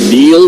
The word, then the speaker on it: Neil: This is IU Football on the Neil Tide Auto Service Radio Network from Learfield. It's no coincidence that Neil rhymes with deal, because that's something you